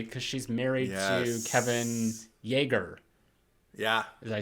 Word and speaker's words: Yagher: And she's like literally part of the family because she's married to Kevin Yagher.